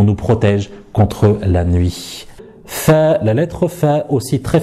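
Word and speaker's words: ف: Alors cette lettre, c'est pas une lettre qui est emphatique, donc nous ne dirons pas fa, fa, mais plutôt fa, fa, fa, fi, fou, fa, fi, fou.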